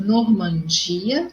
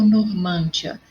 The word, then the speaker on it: Normandia: Eu digo Normandia ou Normândia. Se fosse Normândia, teria que ter um acento ali no man, no circunflexo, mas é Normandia. Então, a minha sílaba mais forte é o di, ok? E é uma paroxítona, não acentuada.